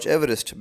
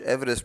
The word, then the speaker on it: Everest: We pronounce it Everest, but I believe Sir George Everest pronounced his own surname as Everest.